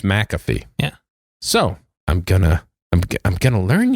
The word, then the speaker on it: McAfee: I just know how to pronounce it. It's MC. Okay. AFEE. Okay. So it's McAfee.